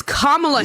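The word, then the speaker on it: Kamala: going get like please it is kamla Harris it is KLA Harris let me ask you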